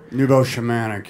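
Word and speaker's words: neo-shamanic: acting style was and forgive my pronunciation noovo shematic shamanic Neo shamanic yeah could you please explain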